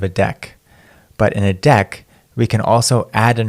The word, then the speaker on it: deque: ended queue or a deck you can remember it's pronounced pronounced like a deck of cards a deck is an